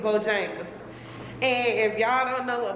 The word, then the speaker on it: Bojangles: Bohonglaise, how you say it? Bohonglaise. Is Bojangles.